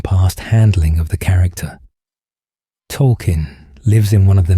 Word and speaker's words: Tolkien: In recent seasons, the show revealed his name is actually Tolkien, named after J.R.R. Tolkien, and that everyone had been mispronouncing it as token all along.